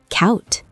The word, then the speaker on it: koud: D sounds like T. Koud, cold, sounds exactly like coat.